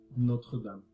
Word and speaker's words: Notre-Dame: cathédrale Notre-Dame. As you can hear from the pronunciation, it's pronounced Notre Dame, which is the most famous Gothic cathedral known in this time period.